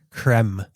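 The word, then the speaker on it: crème: E with the grav accent denotes the pronunciation creme e as in bet. It is used to make it clear that the e is not silent nor that it makes the hard e sound like eerie.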